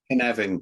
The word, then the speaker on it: Carnarvon: Did I pronounce that right, Dave? Carnarvon Company.